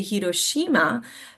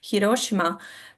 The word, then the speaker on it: Hiroshima: And I know here a lot of times we will say Hiroshima but that's actually not how you pronounce it because Japanese they don't really have the accent. So, it's supposed to be Hiroshima Peace Park.